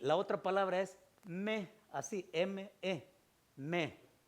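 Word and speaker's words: μή: Diga se escribe O y U, pero se pronuncia U. Y la otra palabra es me, así, M-E, me.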